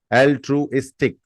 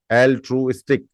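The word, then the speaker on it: altruistic: आई टी Y next word is एल ट्रूस्ट एल ट्रू इस्टिक एल ट्रू स्टिक ए एल टी आर यू आई एस टी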